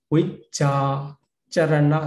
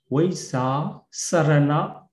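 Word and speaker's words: vijjācaraṇa: Then second rows in Myanmar, it is pronounced as sa, sa. But in international Roman pronunciation is called ja. So vicca charana sampanno in the Roman pronunciation, the international Pali pronunciation, vicca charana, the charana sampanno. But in Myanmar pronunciation, vicca sarana Dhammano.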